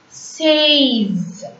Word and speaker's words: seize: IN is the nasal sound which has to be pronounced as an. So cans. SEIZE. Says.